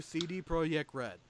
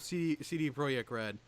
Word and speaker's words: CD Projekt: Which started my love of CD Projekt Red, and that's how I will pronounce their company name, because that's kind of how it's spelled, and they're Polish. So Project.